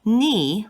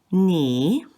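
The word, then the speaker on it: 你: give you an example knee which means you has accent number three you can see it goes down and then back up so knee is not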